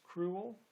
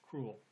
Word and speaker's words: cruel: sudden hast thou sense so cruel could be pronounced as two syllables cruel or as one syllable cruel and i'm going to